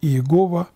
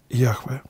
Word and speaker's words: Яхве: фибра из ты что более правильная форма произношению этого имени не иегова а яхве итак господь говорил кого